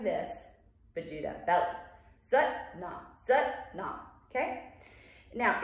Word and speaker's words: Sat: And then we go sut, and the sut, it's S-A-T, but it's pronounced sut, okay? Or sot. I mean, you'll hear versions.